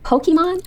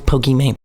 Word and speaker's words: Pokimane: a play on words that's why it's actually supposed to be pronounced Pokemon oh hello excuse me